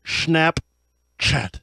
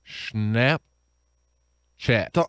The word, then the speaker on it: Snapchat: chat it's Snap Chat you have to have a little bit of a pause in order to emphasize chat your snap why did